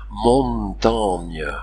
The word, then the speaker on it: Montaigne: par la chanson d'abord la graphie HGN ou ING transcrit le son gne c'est ainsi que la montagne s'écrit Montaigne mais on prononce montagne montagne deuxièmement le X est